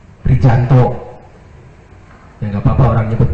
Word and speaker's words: Prijanto: Bukan Prianto, nulisnya Prijanto. Dibacanya jangan, karena saya sesuai dengan apa yang diajarkan saja. Kalau yang begitu tuh dibacanya J, bukan Y. Prijanto.